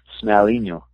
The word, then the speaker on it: Smealinho: Well, give me the official pronunciation so I'm not a complete ass. Smealinho. Smealinho. Okay, thank you very much.